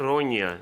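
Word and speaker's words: Ronja: Tem uma possibilidade da pronúncia ser Rônia, né? Não, Por ser um Rônia nome- é porque o nome russo, europeu, não não, sei. escandinavo. Como se escreve é com J, mas a pronúncia é Nha mesmo.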